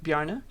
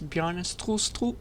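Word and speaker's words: Bjarne: in 1985 by this nice danish man named bjarna just as a quick edit i learned how to pronounce his name properly it's bjorn and i accidentally put a t here so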